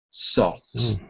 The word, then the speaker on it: salt: it's too difficult to say the L and the T together so the L becomes like a u sound saw saw salt saly saly okay okay